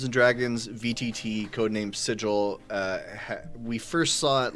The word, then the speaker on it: sigil: Dungeons and Dragons vtt code name sigil it's sigil right not sigle it is well it should be sigil but